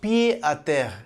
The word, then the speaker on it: pied-à-terre: It's pronounced pied-à-terre in French, first used in English in the early 19th century to describe the small urban apartments of wealthy country estate owners.